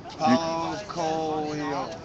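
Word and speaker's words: Paulo Coelho: How you pronounce that? Paolo Coelho.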